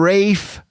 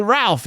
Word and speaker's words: Ralph: Leah say do and Rafe finds we've also found out that Ralph is not really Ralph in the UK for some reason they just dropped the L that L is